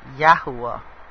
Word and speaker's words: Yahuwah: It's actually pronounced Yahuwah. It's not really a V or a W, it's like a U-O-H type thing.